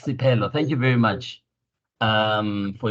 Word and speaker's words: Siphelo: Can I just beg your pardon and just say on the pronunciation of the name, it's Siphelo. It's not like an F. It's a P. It's Siphelo.